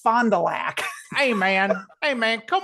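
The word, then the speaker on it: Fond du Lac: the part of Wisconsin uh and and he pronounced it fondulac and he was like, "Yes, I'm from Wisconsin.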